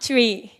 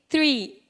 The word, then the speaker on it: three: always said to me you can't pronounce sounds not tree it's three it's difficult for me